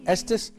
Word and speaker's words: Estes: sheikh how did you your last name rhymes with the state you come from Estes Texas Texas man is